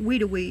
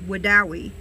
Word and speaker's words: Wedowee: do wait huh I've since learned how to pronounce the name of the town it's not we do we its Wedowee would Dow e Alabama is where we are